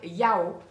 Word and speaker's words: Yao: Sinon, au niveau des autres compléments alimentaires, je teste depuis une quinzaine de jours les gélules de la marque Yao, donc ça se présente comme ceci, ça s'écrit YAW.